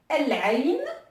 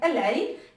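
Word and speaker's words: العين: En deuxième exemple, donc on va prendre El-Ain, qui veut dire l'œil. El-Ain, qui veut dire l'œil. Et donc qui s'écrit, qui se lit comme ceci, El-Ain. Et donc là, pareil, on voit bien que le lemme de l'article est prononcé, donc El-Ain, et donc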